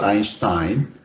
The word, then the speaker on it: Einstein: Or if you follow the original German pronunciation is Einstein, meaning 1 stone So according to Einstein, you divide by this